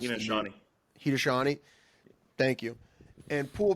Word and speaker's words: Haudenosaunee: I just don't know if I can pronounce it. Haudenosaunee.